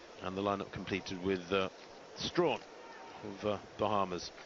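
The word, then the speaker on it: Strachan: there in seven and the lineup completed with Strawn of Bahamas it's spelled Sten but pronounced Strawn the Bahamian in Lane eight taking a little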